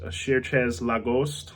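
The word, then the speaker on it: Cherchez LaGhost: I think it's pronounced Cherchez La Ghost.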